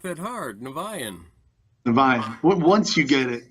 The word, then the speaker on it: Niviane: Niviane.